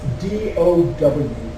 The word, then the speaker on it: Tao: And it's pronounced D-O-W, okay? That the Tao is the energy force that pervades the whole universe.